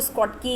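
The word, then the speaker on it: Schottky: शॉर्टकी या कई बार इसको स्कॉटकी या कुछ और भी प्रोनाउंस करते हैं, बट मैं शॉर्टकी कहती हूँ।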